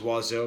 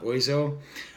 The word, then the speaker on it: Oizo: it starts off with someone pronouncing his name properly in English which is how I realized that it was waz o and not boys oh and it's just a